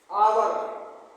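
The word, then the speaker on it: hour: N umbrella आवर एच ओ यू आर आवर नहीं पढ़ना है इसको आवर एच इसमें साइलेंट है।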